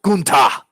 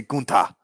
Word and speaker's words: Gunther: I really feel like Santos Escobar, uh, oh, Gunta. I'm sorry, not Walter. Gunta. Let me say Gunta. It's fun to say it that way too. Go for it. Goon, like goon. Ta. Yeah, Gunta.